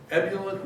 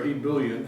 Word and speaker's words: ebullient: But at the end of the day, his ebullient nature, or ebullient, depending on which way you want to pronounce it, nature kept the country together, kept his team of rivals together through his use of stories.